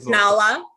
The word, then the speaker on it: Nala: Is it Naila? Naila. Is it Naila or Nala? Nala. Nala. Okay.